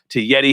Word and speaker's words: Yeddi: want to say some enlightening, positive things to Yeddi here.